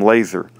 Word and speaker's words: Lazor: Almost all have been based on retaliation for the Lazor hate phenomenon, either directly or secondarily connected with the name Lazor, always pronounced with a hard A, with a nexus to legal whistleblowing against CDC employees and with religious persecution undertones.